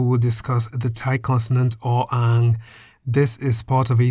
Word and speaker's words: อ อ่าง: The Thai consonant อ อ่าง is a consonant that is always silent as an initial consonant.